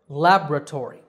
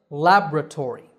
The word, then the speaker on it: laboratory: have another scientific word laboratory that's the american pronunciation lab with the stress on the first syllable laboratory british version sounds quite different laboratory here the second syllable is stressed ba so the word